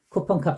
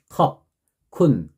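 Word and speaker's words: ขอบคุณ: 막 이런 식으로 했었는데 이것도 굳이 정확하게 발음 그 음가에 맞춰서 발음대로 한다면은 컵, 쿤, 컵 그러니까 저희가 생각하는 컵 이제 컵 게다가 쿤, 컵, 컵쿤, 크랍 이렇게 하더라고요.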